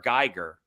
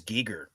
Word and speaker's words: Giger: i've always said h.r geiger he pronounces it as geeger i never knew that